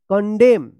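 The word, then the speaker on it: condemn: ई एम एन देखिए एम एन एक साथ है तो एन उच्चारण नहीं होगा कंडेम कंडेम पढ़ेंगे कंडेम सी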